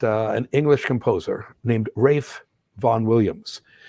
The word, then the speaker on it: Ralph: an english composer named rafe von williams that first name is spelled ralph but we have to remember that that it's only pronounced ralph in the united states everywhere else that spelling